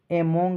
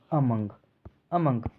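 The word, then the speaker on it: among: बीच, अमंग के बीच, एमोंग नहीं पढ़ेंगे, इसका सही प्रोनाउंसिएशन क्या है, अमंग के बीच, विदाउट के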